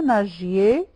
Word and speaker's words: nagiez: vous nagiez vous nagiez g avec I ça se prononce g hein ce n'est pas comme avec a donc vous nagiez très bien vous nagiez